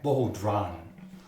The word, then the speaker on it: bodhrán: Yes, this is called a bodhrán. They actually spell it B-O-H-D-R-A-N, bodhrán, but they call it a bodhrán.